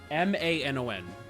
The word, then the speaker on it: Manon: M-A-N-O-N. And the name is, Manon is its name, is the actual pronunciation.